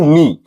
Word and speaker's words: knee: इसी तरह से नाइट, तो यहां हम लोग देख रहे हैं कि KN वाले वर्ड्स में के साइलेंट हो रहा है। नी, KNEE, इसे हम लोग पढ़ते हैं नी।